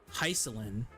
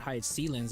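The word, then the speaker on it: Hyseline: Before when she got drip marketed, I said Hyselin. It sounded right to me, and then when I saw her in game, she said High Sealands. I'm like, oh, okay, that's how you say it, you know.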